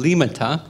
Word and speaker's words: Liimatta: to be with you my name is actually pronounced liata sorry that I'm not an Italian I'm a fin and I just uh